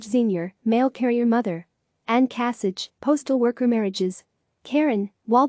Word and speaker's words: Kasich: 1974 religion Christian other facts last name is pronounced Kasich kasitch his parents were killed by a drunk driver